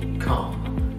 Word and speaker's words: calm: الال سايلنت، اوكي؟ فقول calm.